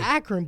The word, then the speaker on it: Akron: You an Akron boy. Akron. AK Run. AK Ron. That's how they say it.